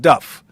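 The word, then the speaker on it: Dubh: It's not pronounced dub, it's pronounced Duff. It's not really pronounced, D-U-B-H is pronounced Duff.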